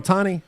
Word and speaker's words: Ohtani: Shohei Ohtani. Is that how you say his name? Yeah, Ohtani?